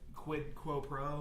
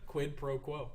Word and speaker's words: quid pro quo: up it's what is it quid quote pro or whatever i can't how do you say it don't laugh that was it quid pro quo yeah yeah so which is literally like i